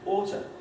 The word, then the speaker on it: ought to: Now, you won't be surprised to know that these oo's become schwa because they're weak syllables. These are the strong syllables. But also these sequences of long T's or two T's become reduced to one. So you end up with the pronunciation oughta.